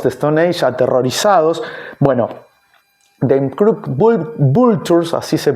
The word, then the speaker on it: Them Crooked Vultures: Bueno, The Crooked Vultures, así se pronuncia, fue este proyecto que publicó solamente un disco, y además tiene una faceta de productor.